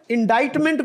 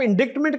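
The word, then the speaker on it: indictment: not become problem लेकिन इंडा मेंट को अगर आप इंडिक्टमेंट कहे तो शायद उसको दिक्कत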